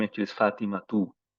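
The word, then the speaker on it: فاطمة: The name actually is Fatima too. There's a ta marbuta then. We don't say it, we don't pronounce it.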